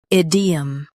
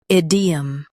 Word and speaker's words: idiom: Idiom. Now read the syllables shown on the screen naturally. Id. E. Idiom. Stress ID and keep 'em light.